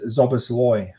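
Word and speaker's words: Szoboszlai: Thomas has come in with the pronunciation is Zobosloy. Slobosly. Okay. So we Zobosloy. So Zobosly. if anybody didn't know, um, that's how you say it.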